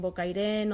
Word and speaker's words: Bocairent: Nosaltres la T final no la pronunciem ni en Bocairent, Ontinyent, Agullent, i és una característica de la nostra zona.